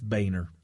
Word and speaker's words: Boehner: Westchester yeah but so we actually know the proper pronunciation but its Boehner but anyway the point